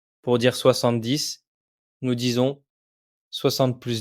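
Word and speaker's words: soixante: 30 40 50 et 60. Le X se prononce comme un double S.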